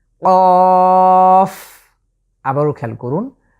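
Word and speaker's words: كاف: শেষে কিন্তু কফ, শেষে ফা আছে, এজন্য আমরা ঠিক শেষের জায়গাটিতে এসে দাঁত দিয়ে আমরা নিচের ঠোঁটকে স্পর্শ করছি, কাফ।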